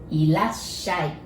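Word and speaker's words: いらっしゃい: Irashai. And if you just say irashai, it is a casual way of saying welcome. And if you add mase, it becomes politer. Irashai or Irasshaimase.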